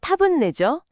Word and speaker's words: たぶんね: 오늘의 주인공 타븐내. 발음은 타분내죠. 자료에서는 이걸 아마도 아마 그럴 거야라고 설명하고 있어요.